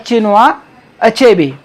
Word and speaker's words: Chinua Achebe: बहुत से पीपल ऐसी प्रोनाउंसिएशन करते हैं, एंड the correct pronunciation of this word that चिनुआ अचेबी.